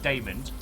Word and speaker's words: Damond: Because when asked, is he a demon, he said yes, but it's pronounced Damond.